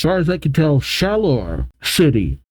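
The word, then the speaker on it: Shalour: As far as I can tell, Shalor City. It's said just how it's spelled.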